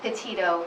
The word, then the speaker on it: Petito: Sure, it's Petito, P-E-T-I-T-O.